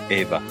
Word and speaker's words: Eva: By the way, in Spanish, it's pronounced Eva.